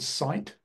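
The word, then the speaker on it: Scite: There's one called, I'll say the word, but then I'll spell it. It's called Cite. It's spelled S-C-I-T-E.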